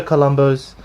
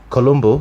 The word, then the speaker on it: Columbu: to review is Franco Columbus I should say Columbo because it's actually he's actually telling the proper way of pronouncing his Italian surname his complete book of